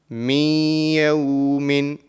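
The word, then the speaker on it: مِنْ يَوْمٍ: So the correct pronunciation of this will be min yawmin.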